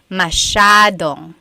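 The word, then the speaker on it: masyado: mashad means a lot so the s y a is a Sha Sha sound mashad yep EJ said miamii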